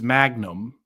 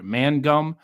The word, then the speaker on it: Mangum: This, black prostitute completely fabricated a rape story, and her name is Magnum, no joke, or Crystal Magnum, or like a Magnum condom. How do you pronounce that? Mangum.